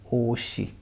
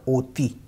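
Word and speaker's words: 옷이: पे आ जाएगा और इसको हम पढ़ेंगे ओशी। ओशी, नॉट ओती, ओती नहीं पढ़ेंगे, ओशी पढ़ेंगे इसको।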